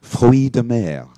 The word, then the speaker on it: fruits de mer: And in the movie just now, the man called it fruits de mer. Fruits de mer. Fruits de mer. That's the French pronunciation, fruits of the sea.